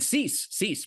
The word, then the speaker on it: Seiss: And Seiss, my last name, Seiss.